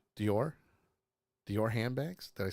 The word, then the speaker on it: Dior: annual appearance and Lady do said it is pronounced d or didn't isn't that how I said it yes Dior Dior yes I thought so she's helping you